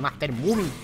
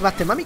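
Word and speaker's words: Master Mummy: palomitas que por cierto muchos me decí mami se pronuncia mami no voy a decirle Master mumi porque no se pronuncia así sabes Vamos Master mami que es posiblemente unoo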